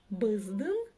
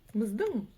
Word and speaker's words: Біздің: «Біздің», «биздин» и «біздің». «Біздің». Кстати, в данном случае ударение падает на последний слог.